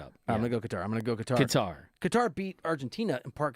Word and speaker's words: Qatar: You say Qatar or Qatar? You're a Qatar guy. I'm a Qatar guy. Wait, is that how you say it? So Qatar, I've kind of gone with Qatar, but then I had someone tell me they want to roll Qatar, so I just kind of mix it up.